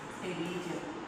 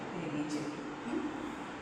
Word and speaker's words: Pterygium: Pterygium. P is silent. Pterygium.